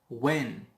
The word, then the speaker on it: when: When. Also H is silent.